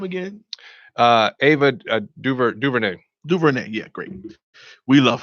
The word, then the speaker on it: DuVernay: Ava Duvernay.